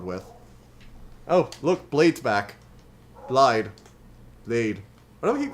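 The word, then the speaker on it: Blaidd: myself from saying it I know that most of the characters in the game call him blide and I think that's actually how you pronounce it but I keep saying blade I can't stop myself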